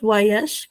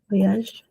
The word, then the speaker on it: Voyage: Este Voyage, Voyage, que se pronuncia así, tenemos Voyage, esta bu, esta O va a sonar como bu, a, yash. Voyage. Es como, no es una I, es una Y.